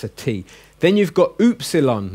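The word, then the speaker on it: ὖ ψιλόν: tea then you've got OOP salon now you're thinking it's a you but it's more of a double o as in hoops so I think a basketball when you get to epsilon and think of the hoops it's the ooze sound oops alone then we've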